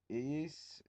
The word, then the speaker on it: Iyyys: Um, he lived in a land called Iyis. It's spelled Iyyys, so yeah, you're going to have to bear with me.